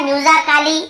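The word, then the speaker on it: musically: अब यहाँ पे देखेंगे ए लिखा हुआ है, इसे आप म्यूजिकली है ना, या फिर म्यूजिकली, ऐसे ए या आ नहीं पढ़ रहे हैं, आप म्यूजिकली पढ़ रहे हैं।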